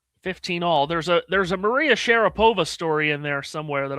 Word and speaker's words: Sharapova: Maria said that the proper pronunciation of her last name in Russia was Sharapova. But when she came over to America, everyone called her Sharapova.